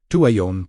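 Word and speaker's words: Tuwayon: Tu Wayon, pronounced Tu W A Y O N. With emphasis on the second syllable.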